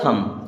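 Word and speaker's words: thumb: य सगट लिखा है टी एच यू एम बी एम के बाद में बी आया तो बी को हम कर देंगे साइलेंट अब ये टी एच क्या हो जाएगा थम क्या हो जाएगा थम थम मीस य अंगूठा होता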